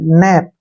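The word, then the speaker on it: knap: गया के ठीक है तो अगर एन के पहले के आता है तो के को हमने नहीं पढ़ना है के का जो प्रोनाउंस है वो नहीं करेंगे क्लियर एन से हो गया न और ए से हो गया ए की मात्रा और पी से प नप क्या पढ़ेंगे इसको नप अब जैसे नेक्स्ट है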